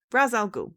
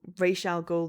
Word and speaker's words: Ra's al Ghul: Raz Al Ghul, thank you. Or Ra's al Ghul, depending on what pronunciation you're, dealing with.